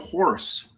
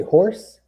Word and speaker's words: Horus: up and jesus came out did you say horse horus horus yeah yeah horus make sure i'm pronouncing that right you know my tongue a